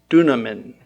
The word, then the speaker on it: dunamin: The word is dunamin. 두나민이라는 말이죠. In English, I spell it D-U-N-A-M-I-N.